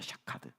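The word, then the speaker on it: שָׁקַד: 약속하다, 샤카드. 따라합시다. 샤카드. 발음이 어때요? 비슷하죠, 그죠? 쇼케드, 샤카드. 따라해봅시다. 시작. 쇼케드, 샤카드. 한 번 더 시작. 쇼케드, 샤카드. 둘이 똑같죠, 그죠?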